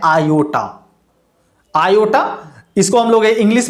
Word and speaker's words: iota: ऐसे इसको हम लोग कभी कभी टाई के उच्चारण के नाम से फिजिक्स में देखने को मिल जाता है, लेकिन ये उच्चारण होता है आयोटा।